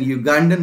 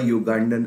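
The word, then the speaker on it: Ugandan: क्योंकि ये साउंड जो है ना वो वाई से प्रोड्यूस हो रहा है, जबकि स्पेलिंग इसकी क्या है? यू से है।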